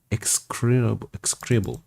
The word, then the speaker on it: execrable: Execrable. Interesting. Execrable. Execrable. It's pronounced very fast.